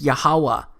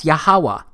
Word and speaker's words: Yahuwah: H it's pronounced as yahuwah because it turns out that the language was so simple back then that it vocalized each consonant with an AA sound without specifically marking that sound between consonants so this yhw H